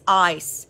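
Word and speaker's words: εἰς: the first one is ice oh my goodness it is pronounced like i c e spelled in Greek e i s if you are in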